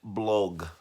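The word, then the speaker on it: Blough: their third string quarterback David blog oh now do you know that's how you say his name but David blog for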